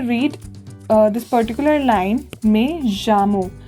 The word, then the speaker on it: llamo: I'll say me llamo no. If you read this particular line, me llamo, the double L is always pronounced as je.